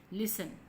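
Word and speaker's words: listen: नहीं करते ठीक है कंही नहीं होता नॉट लिसन लिसन में पति साइलेंट है लिस्ट नहीं पट्टे लिसन ठीक है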